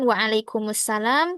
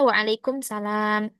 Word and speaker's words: waalaikumussalam: Kalau kita menghilangkan salah satu huruf kayak pengucapan misalkan waalaikumussalam, kita bacanya waalaikumsalam atau mengubah harakat ee memendekkan. Seharusnya dia panjang ada alifnya tapi kita bacanya pendek jadi enggak panjang. Nah, itu juga mengubah arti.